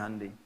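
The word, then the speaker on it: Hyundai: Jepang bikin Honda ya Korea bikin hundai hundai bacanya Handi kemudian sana masuk Piala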